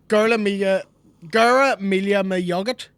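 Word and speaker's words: Go raibh maith agat: Gura Mila Mugget. Gura Mila Mugget. My Ugget. My Ugget. Not nugget or not curry Ugget. It's my Ugget.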